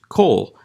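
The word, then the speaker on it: כל: with the Kametz Hatuf is still pronounced as Kol, because this is a short O, a reduction of the Holam.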